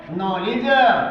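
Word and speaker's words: knowledge: यदि शुरू का शब्द के से शुरू हो। के से शुरू हो और इसके बाद एन शब्द आया हो तो के का उच्चारण नहीं पढ़ते। पढ़ते बल्कि न का उच्चारण पढ़ते हैं। जैसे नॉलेज के एन ओ डब्ल्यू एल इ डी जी ई नॉलेज।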